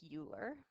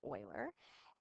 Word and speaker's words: Euler: It looks like Euler, pronounced Leonhard Euler.